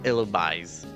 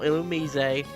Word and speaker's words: Illumise: move in a in a battle with an illumise? And yes, that's how you pronounce his name. Illumise. It's not iliz.